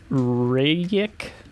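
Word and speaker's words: Rejec: podcast of it's by Luca reik I think is how you pronounced their last name r e j c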